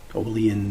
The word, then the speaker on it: Olean: Olean, New York. That's how you pronounce it.